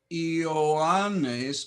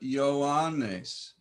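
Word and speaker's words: Ἰωάννης: Not Ioannes, but Ioannes. Why? Simply because iota tends to be pronounced as a y sound in front of another vowel. These are two sounds. This is not a diphthong. So I must make two sounds.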